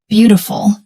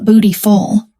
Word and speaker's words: beautiful: Beautiful, not bootyful.